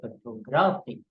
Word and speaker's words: photography: it changes its form the word photograph the stress moves from the first syllable to the second when I say photograph and from the second to the third syllable when I say photography so this is how